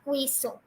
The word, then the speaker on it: queso: But it is not queso. It is not queso. It is queso. Now, why does Q pronounce like K? Why not Q, que, but K? Why? Well, it's not always, but some Spanish words starting from Q pronounce like K, but some Spanish words even pronounce as que, right? But queso over here, the cheese over here is gonna be queso. It's not gonna be queso.